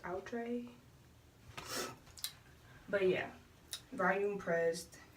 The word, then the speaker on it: Outre: It's pronounced Outre.